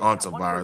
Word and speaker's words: Hantavirus: Hantavirus, that's how you say it.